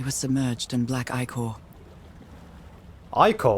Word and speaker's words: ichor: Ichor? Wait, is that how you say it? Ichor? I thought it was Ica.